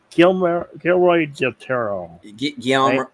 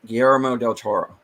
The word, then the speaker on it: Guillermo del Toro: I always pronounce him Gilroy del Toro. Guillermo del Toro.